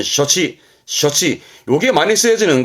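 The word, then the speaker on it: 処置: 발음은 셔치.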